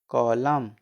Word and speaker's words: COLUMN: COLUMN, इसमें है ना वर्ड में एम के बाद एन होता है, एम के बाद एन है ना, COLUMN, एम के बाद एन है जिसमें एन का उच्चारण नहीं होगा। ठीक, तो COLUMN कॉलम।